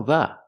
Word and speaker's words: the: Again, we need the article 'the'. I like the American accent. The pronunciation use a long e because it's before a vowel. The American accent.